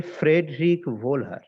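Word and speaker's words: Friedrich Wöhler: ওনার নাম হচ্ছে ফ্রেডরিক ভোলহার। এই স্পেলিংটা দেখো, FRIED, ফ্রেড, LICH, ফ্রেডরিক ভোলহার।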